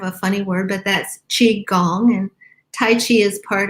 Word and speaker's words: qigong: to nurture ourselves and to build gong gong is spelled g-o-n-g it's kind of a funny word but that's chi gong and tai chi is part of qigong and